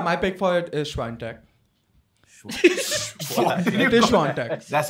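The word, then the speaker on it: Świątek: But yeah, my pick for it is Swiatek. That's how you pronounce it. It's Swiatek.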